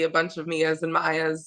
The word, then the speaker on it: Mia: Hi, I'm here with Maya Loyd, and even though her name is spelled M-I-A, it's pronounced Maya, right?